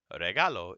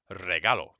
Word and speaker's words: regalo: okay now the r if an R is the first letter in a word it makes a double re sound okay so this is not regalo it is regalo you don't have to go too crazy you have to say regalo but give it a little bit of a flutter all right if you